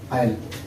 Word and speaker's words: isle: उसके बाद ये इन अल्फाज में साइलेंट साकन है। आयल, ISLE आयल मीनी छोटा जजीरा, आयल।